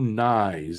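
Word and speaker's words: Knies: green it looked like Matthew nice that's how you pronounce it if you didn't know nice rhymes with fries 707 left in the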